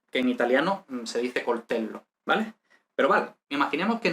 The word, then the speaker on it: coltello: Coltello, bueno, se pronuncia coltello y vemos que hay una O.